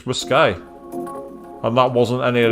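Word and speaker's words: risqué: not like either it's risque unlessly unless I've always been taught how to mispronounce it it's not risque it's riskay and that wasn't any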